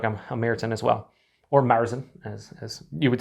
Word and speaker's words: Märzen: american as well or marzin as you would say as well i don't know why i do that i like to say mertzen in in the german pronunciation even though it's probably incorrect and i don't say the